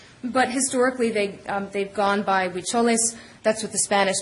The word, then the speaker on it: Huicholes: as the Huichols, or in Spanish they would be pronounced the Huicholes.